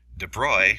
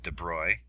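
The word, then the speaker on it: de Broglie: our matter waves so de bruy that's how you pronounce this de bruglie here de broy reasoned by analogy with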